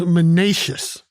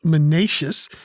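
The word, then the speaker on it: minacious: of the day is menacious three syllables it's an adjective m-i-n-a-c-i-o-u-s menaces it means menacing or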